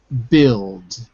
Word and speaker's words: build: You're trying to say the U but the U is silent in build. The U is silent. Okay. Build. Imagine it's B-I-L-D.